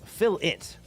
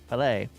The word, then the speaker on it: filet: To be fair, they pronounce it wrong, like saying fill it for filet. Fill it, filet.